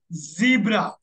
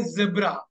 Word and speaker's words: zebra: Crossing zebra Crossing zebra look at the American say zebra right British people say zebra even the way they pronounce the word is different okay note it down